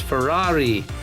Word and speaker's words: Ferrari: he sent me Messi it's not pronounced Pereira it's Ferrari and it's probably watching